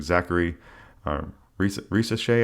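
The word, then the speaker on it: Zaccharie Risacher: They took Zachary Risacher, I believe is how you say his name.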